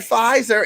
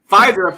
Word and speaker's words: Pfizer: Don't y'all mess with that Pfizer. It got some silent letters up in it.